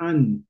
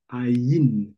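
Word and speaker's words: עין: prononce an et dit ne dit pas an dit ain il faut entendre le you là-bas c'est quoi le code.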